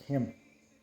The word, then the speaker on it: Jim: you jim you know how do you say jim and spanish it sound more like like the j sounds like an h right so it's like him thank you him look